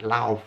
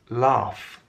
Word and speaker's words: laugh: The L-A-U-G-H, that doesn't seem to represent the sounds.